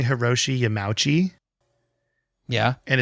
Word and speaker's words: Yamauchi: your correction yeah but it's yama uchi is how it's pronounced i believe and i've been saying